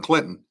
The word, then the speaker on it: Clynthahn: And as Sir Brass pointed out, Safehold spelling, Clinton, Clinton, respelled as Clynthahn. Yeah. So the pronunciation is there if you just look at it.